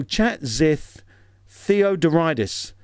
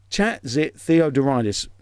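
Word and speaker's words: Chatzitheodoridis: more challenging his second name starts with chat like a chat room the the next bit of his second name is zit as in spot the the next bit is is relatively easy to pronounce but I made it sound difficult Theo and then the other bit is Doris oh sorry dtis dtis so chat zith theodoridis chat zit theodoridis that's the sort of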